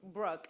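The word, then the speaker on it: Breuck: repeat your name for us and can you spell it for us because we know it's not the usual spelling. Brooke, it's B R E U C K.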